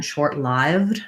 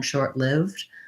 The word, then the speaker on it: short-lived: in the dictionary um pronunciation short lived rather than short-lived which i think is a lot less common in american english but not necessarily incorrect i would recommend though going with short-lived i lived it was